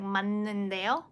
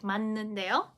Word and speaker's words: 맞는데요: This time you need to convert it into the n sound. As for the efficiency, pronunciation efficiency, so it goes like 맞는데요, 맞는데요, 맞는데요. So you might miss this point, but it is not pronounced as itself. It's like 맞는데요.